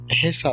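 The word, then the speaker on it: 회사: আবার যেমন এটা দেখেন, আমরা টেকনিক্যালি এটা হওয়ার কথা ছিল হইসা, হইসা মানে কোম্পানি, তো তারা এটা সরাসরি হইসা না বলে হেসা বলে, হেসা, হেসা মানে কোম্পানি।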